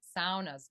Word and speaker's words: sauna: up people have sound SAS by the way it's not a it doesn't rhyme with fauna it rhymes with Ka so uh yeah so